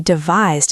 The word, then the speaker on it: devise: It rhymes with surprise.